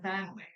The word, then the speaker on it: family: She loves to cook for her, for her family. I know, guys, that sometimes we pronounce this word like family, right? Family, family. But sometimes native speakers skip this word, okay?